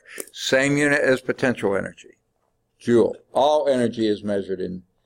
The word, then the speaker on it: Joule: foot-pounds flip-outs okay okay the name of it is Jo you Ellie don't spell it like it a jewel like this it's the Jo ul named after James Prescott Joule okay yeah